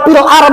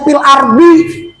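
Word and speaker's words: في الأرض: Berarti kalau fil ard membuang huruf dho. Sadar enggak selama ini? Kita sering tahlilan. Fil ard kan kebanyakan fil ard, padahal tulisannya fil ardi. Kalau fil ard berarti membuang huruf dho, dosa, dosa.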